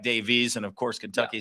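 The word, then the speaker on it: Daviess: Well, I think it's Davis in Kentucky as it looks like Davies. And of course, Kentucky says it Spelled the same way. It's just pronounced two different ways.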